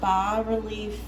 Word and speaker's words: bas-relief: Okay, so today we're going to go over a bas-relief cake designing technique, which means that basically a bas-relief, and it's pronounced B-A-S relief, is basically when a sculpture is coming up from a flat surface.